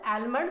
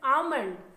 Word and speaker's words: almond: D tan almond no this is not Alma this is almond this is almond chilli